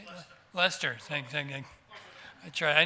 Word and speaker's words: Leicester: Leicester. Thank you. I tried. I knew he left some syllables out there.